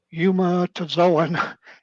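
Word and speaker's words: eumetazoan: called an integrated view integrated view of pre-cambian yuma to zoan evolution that's spelled e-u-m-e-t-a-z-o-a that's in from both ones from two uh that one's from 210 the first one is from 211.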